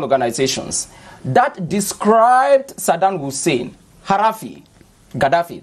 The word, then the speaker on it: Gaddafi: You realize that all those non-governmental organizations that described Saddam Hussein, Gaddafi, that's how they pronounce it in Arabic, as a dictator, you must leave power.